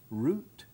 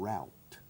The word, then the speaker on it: route: Ruta escrito rody yeah has two pronunciations route and route route yes it's very common around I prefer route personally because it's also British when I teach route